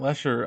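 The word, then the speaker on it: Matt Letscher: And it's interesting because, you know, uh, Matt Lecher, Leer, Leer, you know, pronounce the T. Yeah, Matt Leer, um, actually gets to repraise his role as Reverse Flash.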